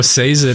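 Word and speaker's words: Sazed: i have i know says it is the way they pronounce it in the audiobooks i know says it is probably the proper pronunciation when i read it it's sazid and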